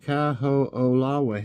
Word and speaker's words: Kaho'olawe: Kaho'olawe, pronounced Kaho'olawe.